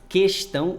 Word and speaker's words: questão: Diferentemente de questão, que nesse caso, questão, o U não é pronunciado. Mas, se pronunciar, também está correto, né?